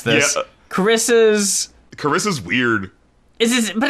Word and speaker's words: Wierd: It would just be the emphasis, right? It would be Carissa's weird. Oh! You see, yes. Okay. Weird, like a fjord.